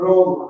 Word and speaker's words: ROM: And now a new company is being spun out, probably announced next week, called ROM, R-O-M, from Roman, and kind of rhyming with long.